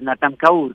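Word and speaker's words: Snatam Kaur: ¿Cómo se dice Snack? Es Natam Kaur, que es como música hindú, relajante, con una vibración muy bonita para dormir, para relajarme.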